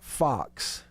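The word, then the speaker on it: Fuchs: it that way and it's pronounced like fox like the little animal running around the yard then more power to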